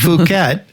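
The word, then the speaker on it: Phuket: It's Fuket. Fuket. It's f Don't say that cuz I have to I have to bleep you out if you say that. It's fuket.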